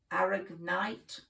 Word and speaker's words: aragonite: But it's spelt A-R-A-G-O-N-I-T, aragonite.